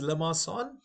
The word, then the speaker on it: limaçon: So the pronunciation is Limaçon. I believe it's French, or Limaçon.